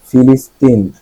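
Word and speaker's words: philistine: ফিলিস্তিন, ফিলিস্তিন সংস্কৃতি বিমুখ ব্যক্তি, শিল্প সাহিত্য সম্পর্কে অজ্ঞ, অনাগ্রহী। আচ্ছা, আপনারা বাংলাতে যে প্যালেস্টাইন ফিলিস্তিন বলেন ওই উচ্চারণটা সংস্কৃতি বিমুখ বোঝাতে ফিলিস্তিন বলা হয়।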